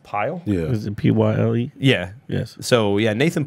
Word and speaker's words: Pyle: Is that pronounced Pyle? yeah. Is it Pyle?